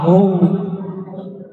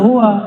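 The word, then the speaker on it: هو: Ya, hu, bacanya hu, jangan huwa, kecuali disambung.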